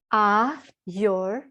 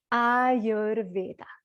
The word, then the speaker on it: Ayurveda: It goes like your, like yours and mine, Ayurveda. So maybe if you're all muted, you can try it out a couple of times. Make sure you get how to say it. Ayurveda is how you say it.